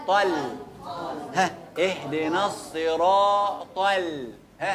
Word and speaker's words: الصراط: بينها وما بين السين الصاد فرق ما بينها وما بين الايه الس السين السين تتنطق زي ست الستات في الصرا يا شباب الصراط الصاد ادا حقها اهد ن الصي اهدنا